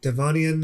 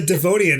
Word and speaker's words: Devonian: talk one from the devonian era um am i even saying that right i don't know i that's how i would pronounce it because it looks like devin i wanna learn more